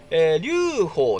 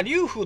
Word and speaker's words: 劉封: 登場夏用の階段龍鳳ですねまぁ龍風とも読むみたいなんですけどまぁこれは読み方が人によって違うみたいですねうーん何のでまぁ調べたところまあこれはどっちもいけるみたいなので